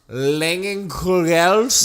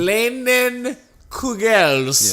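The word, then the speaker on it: Leinenkugel's: I have a Langenkugels. That's the correct pronunciation. Langenkugels.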